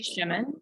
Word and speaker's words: Schumann: my name is Abby Schumann my last name rhymes with lemon in case you're ever